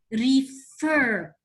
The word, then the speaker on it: refer: The sound, refer. Refer, it's stressed. Thank you. It is stressed and it's CVC.